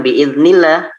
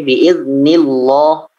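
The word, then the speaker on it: بإذن الله: mienya sebelumnya berharokat kasroh Kalau Emang dibacanya Bukan biidnillah tapi biidznillah wiin nih loh itu dibaca tebal sedikit seperti itu Jadi yang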